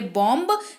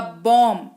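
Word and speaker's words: bomb: तरीके से समझते हैं सबसे पहला बीओएम बेईजी स्पेलिंग के साथ से होना चाहिए बंब लेकिन होगा नहीं यह होगा बॉम जिसका अर्थ होता है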